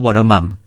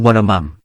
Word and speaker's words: วรมัม: ว ร มั ง ที่ ผ ม อ่ า น อ อ ก เ สี ย ง ว ร มั ง เ ป็ น ก า ร อ อ ก เ สี ย ง พ ร ะ น า ม ที่ จ า รึ ก ใ น ศิ ล า ไ ม่ มี จ